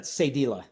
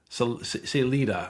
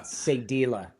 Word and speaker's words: Sadilah: And, um, I was on your website, which, uh, can you pronounce that for me? Uh, Sadila. Selita. Sadila. Sadila.